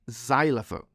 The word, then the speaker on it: xylophone: And sometimes it's a Z, like in xylophone.